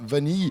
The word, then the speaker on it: Vanille: dernier fit et vanilla mais ça s'écrit vanille va nous enlever à 2 n y es prononce vanille et on l'a repris